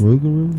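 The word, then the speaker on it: rougarou: like frogo frogo frogo what r o u g a r o u raru yes rugaru hang on what spell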